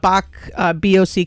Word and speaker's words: Bock: not the Bach like the piano player. Nope. No, it's spelled different. Wrong Bach. No, this is Bach. Bock is a traditional German style beer.